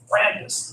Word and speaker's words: Brandis: How can I pronounce his last name? It's Brandis.